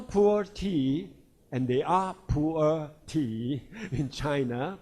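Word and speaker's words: 普洱: It's called pu'er cha, pu'er tea. But with your typical intonation, it may become a poor tea.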